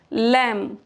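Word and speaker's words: lamb: हैं rule number one बी is usually silent after M एट द एंड ऑफ a word जैसे लम यह एम के बाद बी आ रहा है तो हम यहां बी को पढ़ेंगे ही नहीं तो क्या पढ़ेंगे लम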